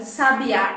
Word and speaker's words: sabiá: o significado bem assertivo por exemplo a palavra sabia sabiá e sábia são palavras que tem a mesma grafia o que muda ele cada uma delas é aonde nós marcamos a sílaba tônica então quando eu falo